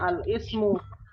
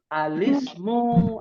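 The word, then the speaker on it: الاسم: Nah, kalau kita nggak tahu hamzah wasal, bacanya al-ismu. Salah. Kan nggak boleh dibaca kalau ketemu alif lam nih. Jadi dibacanya apa? Apa? Ismu. Alismu. Alismu. Alis. Ada alismu, alisku gitu ya. Oh, bukan ya. Alis. Alismu ya. Jadi bacanya alismu.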